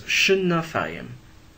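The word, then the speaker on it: שְׁנָתַיִם: Notice that we have 3 syllables here, sha-na-thayim, and the first syllable is 2 removed from the accent. It's propretonic with a kamatz. Now anytime you have a kamatz, 2 syllables before the accent, it will try to reduce to a shava. So actually the form is shnathayim, 2 years.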